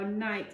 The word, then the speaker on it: knight: Now yesterday we talked about how knight has a funny spelling with the sound at the beginning. It's got a silent K.